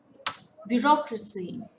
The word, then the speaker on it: bureaucracy: on the second syllable bureaucracy it's again a four-syllable word stress falls on the second syllable photograph it's a three